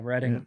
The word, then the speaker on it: Reading: from reading pennsylvania uh reading not pronounced like the verb brett cannot do and the task will excels at reading oh reading it's writing he said not pronounced